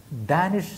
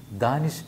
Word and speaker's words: ദാനിഷ്: വടക്കേ ഇന്ത്യയിൽ ഡാനിഷ് എന്ന പേര് അല്ല ശരിക്കും വരുന്നത്, അവിടെ ശരിക്കും ദാനിഷ് എന്നാണ് എല്ലാ പത്രങ്ങളും എഴുതിയത്. ഹിന്ദിയിലും മറ്റുള്ള പത്രങ്ങളൊക്കെ ദാനിഷ് എന്നാണ് എഴുതിയത്. ആ പേരിൻ്റെ ഉച്ചാരണം അങ്ങനെ തന്നെ ആവാനാണ് സാധ്യത.